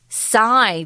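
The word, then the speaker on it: Psis: This little youngster or youth, these youth, you could also use, are now known as Psi. That's how you pronounce P-S-I-S. It's actually after the Greek letter.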